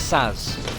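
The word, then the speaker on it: Sazh: Oh yeah, his name is Saz. I'm pretty sure you don't pronounce that H.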